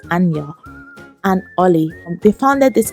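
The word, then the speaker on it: Anja: i modeled the name anya i think it's called although it's spelt a n j a but i think it's pronounced anya and ollie they founded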